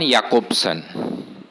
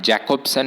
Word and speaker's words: Jakobson: on it roman jakobson see the name it is not jacobson it is jakobson because this j or this letter is pronounced as here in many european languages except in english it is pronounced as ja but it is pronounced as here in other european languages so romani akopsin was